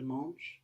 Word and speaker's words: mangent: So if we remove our er and we put ent, as the ent is not pronounced when it's on the end of verbs, it's just going to make us hear that last consonant.